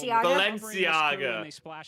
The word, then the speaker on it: Balenciaga: I can't remember how to pronounce Balenciaga. Balenciaga.